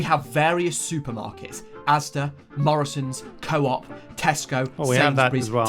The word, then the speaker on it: Co-op: Asda, Morrison's, Co-op, Tesco, to name a few. Is that how you actually pronounce it? I always just say coupe. That's how you say it in Sweden.